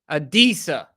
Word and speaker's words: Adisa: Is it Adasi? Adisi? Adisa. Like Adisa Isaac.